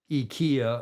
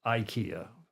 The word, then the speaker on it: IKEA: Frederick Bland saying EA I don't know how it's pronounced in Swedish but I know the Europeans pronounced it pronounce it eeka and in the states it's pronounced Ikea because you know we pronounce yeah the eye differently and different thanks Graham